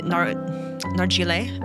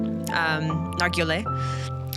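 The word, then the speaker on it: Nargeolet: Paul Henry Nargile, I think is how you say it. Nargile.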